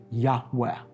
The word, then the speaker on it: Yahweh: Yud-Heh-Vav-Heh, which most Semitic scholars, but those are four Hebrew letters, as you know, which most Semitic scholars believe is pronounced Abrethi, Yahweh.